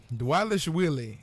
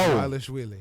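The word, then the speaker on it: Dvalishvili: Dwalishvili is actually how we pronounce his name. Who? Merab. Oh. Dwalishvili.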